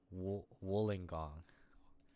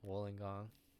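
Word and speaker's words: Wollongong: Woolingong. Woolingong South. Woolingong. Woolingong. Okay, I I can see it now. Wooling gong. The double L threw me off for sure.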